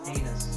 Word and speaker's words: Agnes: me this name, and it's actually pronounced anus because the G is silent. My mom used to always say that real G's move in silence. I think it's beautiful. For the record, Agnes, I don't think your real name is beautiful.